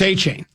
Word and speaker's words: Achane: So, it's Achane.